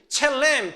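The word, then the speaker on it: צלם: 그 다음에 여기서 형상이라는 것은 첼렘 또는 젤렘이라고 읽어요.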